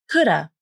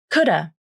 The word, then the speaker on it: coulda: Then the A vowel in have is reduced to the schwa, This sounds like could've, could've, I could have gone with you. But then one more reduction can happen. The final V consonant in of can also be dropped.